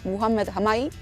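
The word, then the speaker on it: Mohamed Hamaki: my favorite singer is mohammed hamake or egyptian pronunciation muhammad hamai i've been go to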